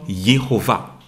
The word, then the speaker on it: Yehovah: Le nom de Dieu, nous avons appris également que le nom de Dieu se prononce comme Yehovah.